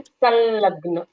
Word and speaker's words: संलग्न: संस्कृत में कहते हैं संलग्न, एकत्रित होना, संलग्न। तो यहाँ पर स के ऊपर जो अनुस्वार है वो आधे ल के जैसे सुनाई देता है।